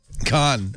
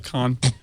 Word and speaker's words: Khan: with you that you did a one-word answer of Khan and just simply said it as though it was one syllable. Khan, you know, I'm not